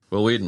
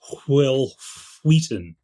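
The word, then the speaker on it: Wil Wheaton: that role, but Will Weeden was so good. Can't can't take it away. They made pronounced his name this entire time. What's that? It's pronounced Will Wheaton.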